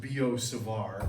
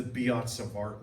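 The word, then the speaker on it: Biot–Savart: Okay, in French it's actually pronounced Biot-Savart, but everybody just says the Biot-Savart law.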